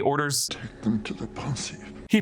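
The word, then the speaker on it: Pensieve: teardrops and he orders take them to the pon he pronounces it Pon with the FR French pronunciation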